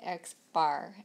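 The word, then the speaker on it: x̄: the left hand side they've got the xar and that's how we um that's actually how we say it is xar on the right hand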